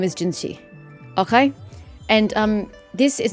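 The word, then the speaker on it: Jinhsi: cuz it looks like it could should be jiner but they were pronouncing it giny if you actually take the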